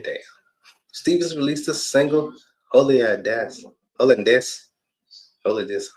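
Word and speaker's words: Hollandaise: Stevens released the single Holiness, Holiness, that's how you say it, my friends, which was produced by TDE and the house producer Cal Banks.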